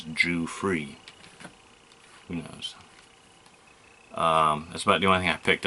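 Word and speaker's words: Giuffre: Jimmy G or free I thought it was Proust to pronounce as Jew free that's about doing that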